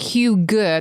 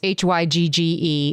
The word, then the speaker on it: hygge: I think it's like hue good. There's actually like there is like we're we're all pronouncing it wrong, but it's h y g g e and it's something like hygge.